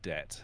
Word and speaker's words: debt: I found out today, you know the B in debt, there's a silent B in the word debt.